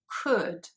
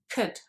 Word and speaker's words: could: and could and sometimes english learners tend to pronounce them as if there was a double o sound in there but there isn't so sometimes people kind of pronounce it as would or could but actually those sounds are much shorter so it's just wood could and you can hardly hear the vowel sound there it is there